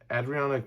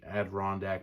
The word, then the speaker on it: Adirondack: green toad looking people adrionic mountains ad rondack adirondack mountain sorry nerds sorry i mispronounced it don't eat me alive